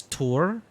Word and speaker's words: Tor: Yeah, but here Sam Lake, the creative director, he pronounced it as Tor.